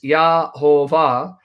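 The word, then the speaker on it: Yehovah: I pronounced it Nehemiah Gordon, that the correct pronunciation of the divine name is Yahovah, because he has done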